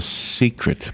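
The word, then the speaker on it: Cicret: By the way, that bracelet that's the smartphone is called The Secret, but it's spelled C-I-C.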